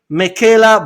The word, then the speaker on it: Meckela: my podcast I have NPC women's physique athlete Michela hi Michela did I did I pronounce correct you did you know what you're the first person that actually does pronounce my name ah okay okay Michaela Michaela yeah yeah easy easy yeah it's easy